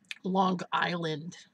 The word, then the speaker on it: Long Island: north of Long Island Long Island with the hard G I used to get